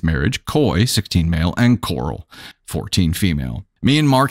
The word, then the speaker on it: Coral: complaining by the way it's Coral c o r a l it's not me pronouncing Coral like like Rick Grimes Coral Leah said it was